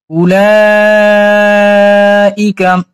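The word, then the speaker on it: أولئك: উলাইকা, হামজা পেশ উ, লাম জাবর লা, 4 আলিফ, অটা বাদ। অনেক অক্ষর হচ্ছে লেখায় আসে, পড়ায় আসে না। আমরা অটারে উচ্চারণ করব না, পড়বো না।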